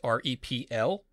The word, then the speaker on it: REPL: That's R-E-P-L. That's pronounced REPL, and it stands for Read, Evaluate, Print Loop.